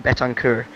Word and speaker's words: Betancourt: I'm hearing that the pronunciation is Sebastian Betancourt. Yeah, alright, Betancourt.